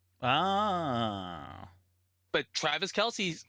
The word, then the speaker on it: Kelce: That reminds me of Travis Kelce because his brother says it's actually pronounced Kels. Ah. But Travis Kelce says Travis Oh, Kelce when you see Kelce.